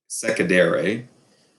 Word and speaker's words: secedere: But the definition of secession comes from a Latin word, secedere. We use the soft C in English, so we say secession. But in Latin, the C's are hard, so they're always a hard C sound.